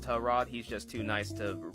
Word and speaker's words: Tyrod: else have been referring to this man as Tyrod since he entered the league and then one day a teammate of his came out and was like oh yeah by the way his name is pronounced tell Rod he's just too nice to correct anybody same